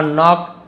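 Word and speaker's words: knock: बाद she heard a नॉक एट her door उसने अपने दरवाजे पर एक नॉक यानी क्या होता है के एन एक साथ हो तो के साइलेंट होता है खटखटाने की आवाज सुनी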